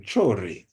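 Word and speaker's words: Traoré: You know, we have our brother in in Bino Faso, Ibraham um chore, that's really how it's pronounced, who is doing marvelous works.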